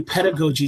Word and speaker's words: pedagogy: Pedigogy is that say right? Yeah absolutely. So basically pedagogy just means um uh how we teach how we teach um and how we facilitate learning.